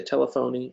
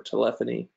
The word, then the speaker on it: telephony: Some people say telephony. I prefer telephony. I think that's the right way to say it. I think the other way is wrong.